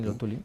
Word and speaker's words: Luthuli: El líder de este partido, del CNA, era creo que lo pronunció bien, Albert Luthuli, sí, Luthuli, que llegó a ser Premio Nobel de la Paz.